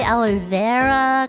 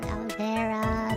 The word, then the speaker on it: aloe vera: Oh, like aloe vera. Apparently, it's aloe vera, but I say aloe vera cuz like very, you know, aloe vera, not aloe vera.